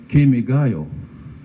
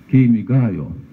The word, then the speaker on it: Kimigayo: to find out but english people for instance would pronounce this word kemigayo you see kimigayo democratic he patented like were the democratic english democratic kimi gaya ki and god are stressed well this is their